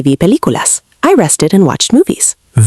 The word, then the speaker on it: película: especially with película. Some learners stress the wrong syllable. Natural pronunciation sounds like película.